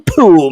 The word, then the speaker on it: Pool: hey um cool Tim pool my name rhymes with cool all right dude okay